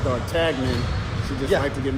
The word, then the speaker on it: d'Artagnan: only three musketeers with important musketeer which is pronounced d'Artagnan did you have to give me men dart